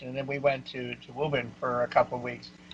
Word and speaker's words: Woburn: Yeah, and I always love the fact that it's pronounced Woburn and not spelled that way.